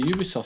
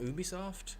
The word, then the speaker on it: Ubisoft: An offer in the Ubisoft store.